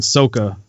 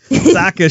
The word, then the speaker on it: Sokka: Appa and Katara and Sokka, I keep saying it wrong. Sokka show up with Appa actually flying this time, right?